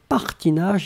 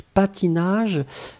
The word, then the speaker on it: patinage: Mohana, it's not partinage, it's patinage.